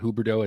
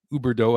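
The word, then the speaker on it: Huberdeau: we're going to get hooberto it's uber dough i don't know how to pronounce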